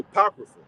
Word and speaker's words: Apocrypha: supposed to be there right so that's that's pronounced the Apocrypha apocrypha mean to send away hidden all right